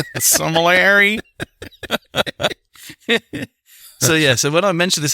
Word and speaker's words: sommelier: Sommelier, yeah, that's the word my wife can never pronounce correctly. Somalia? I've been to Somalia. Sommelier.